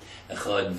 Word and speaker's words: Echad: The Dalid in proper Hebrew is pronounced like a TH. Echad. That's right, he says, put your tongue behind your upper teeth.